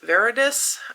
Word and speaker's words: Veradis: One of the other, I would say, main characters, probably the second most number of tabs, is Veridus, I think you would pronounce it, and he quickly becomes